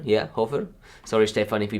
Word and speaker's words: Schoerghofer: looking watching and reviewing a film by stefan i think it's pronounced shirk hoefer or hofer yeah hover sorry stefan if he pronounced your name wrong